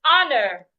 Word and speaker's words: honor: Another example is honor. The h is silent as well.